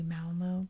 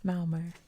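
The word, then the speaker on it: Malmö: of malmo now see in america we say malmo but i've really been working on pronunciation so now i can't say it it's malmer that's how you're supposed to say it kalmar castle one of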